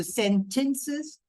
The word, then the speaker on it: sentences: Now, the spelling is with TEN in it, but the pronunciation will be with TIN. So sentences, and it's not vegetable, but it's vegetable.